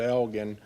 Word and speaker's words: Elgin: of you probably and it is hard g sound elgin it's 20 miles east of here right on 290.